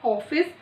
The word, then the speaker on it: ऑफिस: तो इसका उच्चारण जो है अंग्रेजी के ओ के रूप में किया जाता है और इसको हम अर्धचंद्र बिंदु भी, अर्धचंद्र भी कहते हैं।